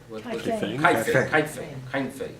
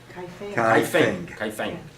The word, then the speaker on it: Kaifeng: Kaifei. How do you pronounce it as a Chinese? Kaifeng. That in Kaifeng they actually called the Jews.